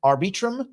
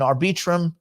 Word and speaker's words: Arbitrum: also use polygon and arbitrum or arbitrum I'm not sure how we pronounce that networks for certain well ARB probably ARB arbitrum arbitrum AR like arbitration arbitrum arbitrum we're gonna we're gonna